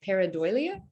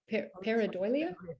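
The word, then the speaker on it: pareidolia: i'm pronouncing it right paradoia peridolia that's right yeah um it's a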